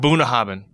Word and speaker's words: Bunnahabhain: Bunnahabhain.